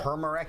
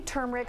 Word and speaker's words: turmeric: Turmeric? Is that how you say it? I say turmeric. Some people drop the R and say turmeric.